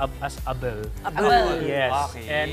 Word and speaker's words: Abel: 2017 Abel is an Ilocano word it's actually pronounced as Abel yes and it's an Ilocano word which means